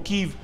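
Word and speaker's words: Kyiv: visita del presidente Joe Biden a Kiev o Kiev. En la pronunciación ucraniana, lo que estamos viendo es el material que ha llegado de último minuto.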